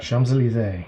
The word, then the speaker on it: Champs-Élysées: Champs-Élysées. Champs-Élysées. I should have him. He says it without reading the He pronunciation.